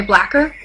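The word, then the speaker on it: Blacquer: it's um no sorry blacker blacker and Bas it's spelled like lacquer but with the b in front of it blacker lacer just blacker anyway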